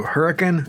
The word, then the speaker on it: Hurricane: seven meets up with nine taking you through hurricane and yes that's the way the locals pronounce it and through Zion National Park with